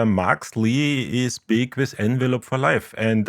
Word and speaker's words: Envelop: the only one uh we say envelop envelop okay well thank you like to the verb to be enveloped that honestly that makes